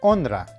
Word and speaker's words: honra: As I've mentioned in another video, the letter H in Spanish is silent. So in this case, the word begins with the pronunciation of the letter O. So here we would have honra.